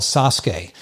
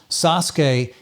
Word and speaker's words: Sasuke: the show is called sasuke if you look it up it's actually spelled s-a-s-u-k-e but it's pronounced sasuke it took me a